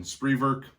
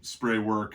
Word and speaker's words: Spreewerk: material here so again spreework or spray work you hear people say it both ways but spree work would be the more correct german pronunciation of the word factory established in czechoslovakia uh